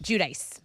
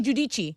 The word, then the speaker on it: Giudice: Giudice. Giudice. Okay. She's hot, right? And she's Italian, so some people say Giudice.